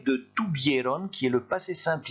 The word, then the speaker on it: tuvieron: J'ai mis en rouge le V, parce que n'oubliez pas qu'en espagnol, il se prononce B. Hein, donc on dit bien tuvieron.